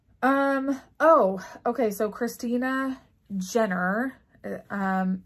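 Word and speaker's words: Junor: oh okay so Christina Jenner um it's ju n o r and she gives you instructions immediately that it's pronounced Jenner Stitch her delightful sampler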